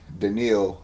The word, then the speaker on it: Danielle: I always say his name Daniil, wrong. Daniil, Danielle Hunter. There we go.